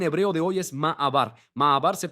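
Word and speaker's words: מעבר: Ma'abar se pronuncia así, exactamente así, ma'abar, ¿ok?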